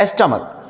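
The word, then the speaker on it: stomach: अब स्टमक स्टमक it means क स्टमक।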